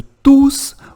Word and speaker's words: tous: E toma cuidado, eu também vou te explicar quando você tem que pronunciar o S do tus, ou que você não pode pronunciar esse S e vai falar tu.